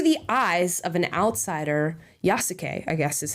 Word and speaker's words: Yasuke: Yasuke, I guess is how you say this guy's name.